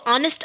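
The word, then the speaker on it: honest: आ की आती है, तो ऑनेस्ट आने की वजह से यहाँ पे एन यूज़ किया जाता है ए ना यूज़ करके, क्योंकि यहाँ पे एच साइलेंट है और आगे का लेटर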